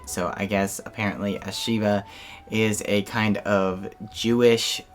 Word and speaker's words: Shiva: i just watched a movie called shiva baby sheba baby what's it called yeah shiva baby shiva baby how do you say it shiva shiva you say shiva so recently i watched a movie called shiva